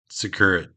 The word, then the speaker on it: Przekurat: Say his name. Jason's son, Przekurat. Secure it. Secure it. Yeah, there we go. Secure it.